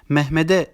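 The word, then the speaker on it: Mehmet'e: bunları yumuşamış gibi okuruz Örneğin mehmete kelimesi okunurken Mehmed'e diye okunur ancak yazılırken Mehmet de diye yazılır Zonguldak kelimesi Zonguldak A şeklinde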